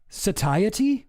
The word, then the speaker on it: satiety: Satiy Ztha thus spaith zerothramp important out of fairness that we that we add things like that in and satiety like society but satiety is that really